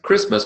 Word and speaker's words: Christmas: Notice Christmas, but Christianity, hard T.